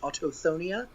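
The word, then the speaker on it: Autochthonia: of jade, compass of celestial, direct direction six, autoonia, that is how you pronounce it.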